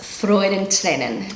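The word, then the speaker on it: Freudentränen: is freud and lennon that's very hard for a native english speaker to pronounce i'm trying to get the rolling of the r in the back of my throat rather than the tip of my tongue but you know i'm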